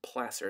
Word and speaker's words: placer: called they're they're technically our word for them is a placer deposit not placer deposit placer it's a little it's pronounced a little differently than it looks so that's a c